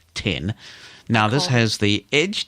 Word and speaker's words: X: going to be pronounced X like Xcode and so when we were sitting there waiting for the iPhone it and in fact you pronounced at 10:00 it's a Roman numeral tin now this has the